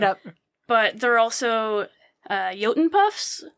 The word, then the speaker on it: Jotun: But there are also Jotun puffs, which I also was pronouncing in my head as like Jotten puffs this whole time until I saw the pronunciation in the back of the book.